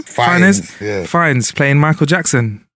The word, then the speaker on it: Fiennes: Fiennes, yeah.